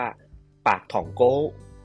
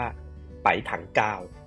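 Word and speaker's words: 白糖糕: นะ ครับ ที่ เอ่อ คน จีน กวาง ตุ้ง เนี่ย เขา จะ อ่าน ว่า ปาก ถอง โก นะ ครับ หรือ จีน กลาง เนี่ย เขา จะ อ่าน ออก ว่า ไป๋ ถัง กาว นะ ครับ ซึ่ง มัน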